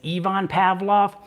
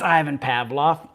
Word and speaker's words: Ivan Pavlov: about ivan pavlov now in the video i pronounced it as yvonne pavlov it's ivan pavlov and he was a uh russian um not